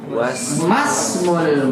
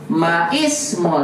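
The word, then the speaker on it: ما اسم: Masmul mudiri. Bukan kita baca maismul tapi apa? Masmul.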